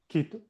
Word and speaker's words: Quito: The U, you do not pronounce the U. Quevedo. And then Quito.